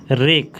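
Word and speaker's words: wreck: जानते ही हैं wisdom रेक रेक मतलब नाश रेक मतलब नाश डब्लू साइलेंट होता है डिस्ट्रक्शन और रुन डिस्ट्रक्शन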